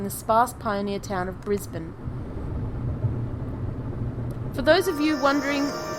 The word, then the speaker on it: Brisbane: sparse Pioneer town of Brisbane for those of you wondering how it's said uh it is said brisban not Brisbane we were settled into